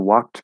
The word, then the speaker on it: walked: um matt uh ken walked back and walked back sound the same no meaning you drop the d which is actually a t sound it's spelled to the